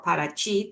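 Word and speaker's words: Paraty: And Parati or Parachi, the way they pronounce it in Brazil, is a historic little town 3 hours away from Rio.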